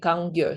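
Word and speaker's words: Kangyur: So when we translate then it's easier for us as English listeners to say kangir.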